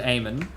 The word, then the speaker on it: Aim On: Yeah, so, like, that, if you want a gun aiming, Rune has a build for Aimon called Aimon. Not spelled Aimon, it's spelled Aim On, which is Aimon.